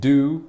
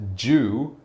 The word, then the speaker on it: due: you can pronounce it do like the word do as in do something or you can pronounce it jus like a person who is Jewish you know Jew or you can pick